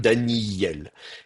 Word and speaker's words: Daniel: un allongement du iode, Daniel. Et donc ça, c'est la prononciation qu'on va avoir, Daniel. Alors du coup, le aleph, il ne sert plus à rien. On ne le prononce plus.